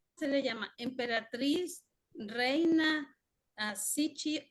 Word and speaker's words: Cixi: Emperatriz, reina, Sichi, o cómo lo pronunciaste, Sichi o Sichi. Emperatriz Cixi.